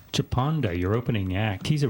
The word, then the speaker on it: Chaponda: I know Daliso, how do you pronounce his name? Chaponda. Chaponda, your opening act.